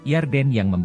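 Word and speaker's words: ירדן: the Jordan Valley or yardenar hereinafter called yarden according to the Hebrew pronunciation in the yarden valley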